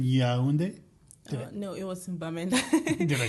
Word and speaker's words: Bamenda: No, it was in Bamenda.